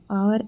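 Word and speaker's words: hour: there an आवर एगो आवर H silent है तो यहां पे क्या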